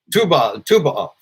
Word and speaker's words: Tu B'Av: Tu B'Av, the 15th of the month of Av, which says the happiest day of the year.